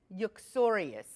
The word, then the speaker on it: uxorious: It is uxorious. Uxorious. How do you pronounce it?